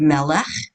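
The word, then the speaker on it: מלך: This is the lamed, and this is the word melech, and that is the final chaf. Well, we talked about it last week too. The final chaf is always the ch sound at the end.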